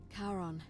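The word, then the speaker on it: Charon: Karon, who in exchange for the right coin helps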